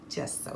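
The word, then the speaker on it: Gesso: show you why okay guys so this is just so it's pronounced just so even though it's G okay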